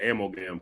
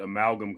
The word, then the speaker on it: amalgam: merger amalgam coming literally i used to call it ammo game because i didn't know how to pronounce like you know with wolverine batman batman long ago there was something called amalgam comics uh i would